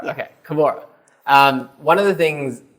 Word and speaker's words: Kbora: outside but yeah the actual is uh actual pronunciation is k k okay kabora um one of the things that you are